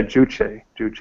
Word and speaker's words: Juche: I mean, of course, they're all like, how is it pronounced? Jewish type. It's all celebrating. Yeah, Juche.